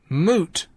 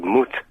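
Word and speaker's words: Moët: I can't help that moot yeah I so hate that that's what you call it in um in Dutch m o e t is moot but Dutch doesn't have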